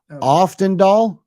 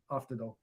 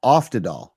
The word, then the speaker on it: Oftedal: Oftendal. did I say it right? Oftendal? No N. Oftedal. Oh, Oftedal.